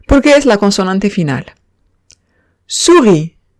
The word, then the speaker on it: souris: Souris. Souris significa ratón y como vemos, la S no se pronuncia por ser consonante final.